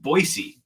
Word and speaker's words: Boise: learned from my friend who's from Idaho it's pronounced Boise State campus pronounced what Boise Boise yep whatever